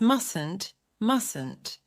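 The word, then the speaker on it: mustn't: “must” is easy, but in the negative, do not pronounce the first “t”. It’s “mustn’t”.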